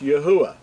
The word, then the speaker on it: Yahuwah: Now, a lot of people think it's Yahweh or Jehovah and all these other variations, but to be accurate, his name is pronounced Yahuwah.